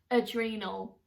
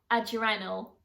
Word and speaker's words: adrenal: know it's meant to be pronounced adrenal not adjournal but to me adrenal